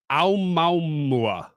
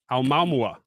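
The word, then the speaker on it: ʻOumuamua: They've named it Aomaumua. Aomaumua. It's Hawaiian. Try to spell that, Anna. Say it again, just so she's clear. Shots fired. Aomaumua.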